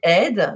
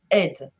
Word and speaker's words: Eydt: D'ailleurs, mon nom de famille, c'est Ed, il faut quand même le savoir, E-Y-D-T, mais ça se prononce Ed.